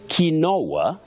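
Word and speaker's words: quinoa: say Cambridge YF gmog ofis masit you say kinoa cou not coup then deteriorate Amo Morris of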